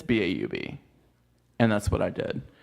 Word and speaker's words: Baub: There's people will say B-A-U-B instead of saying Bob.